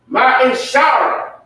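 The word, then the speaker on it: מעשר: Malachi 3:8-10 means 10th in the Hebrew and is pronounced Ma'ishara.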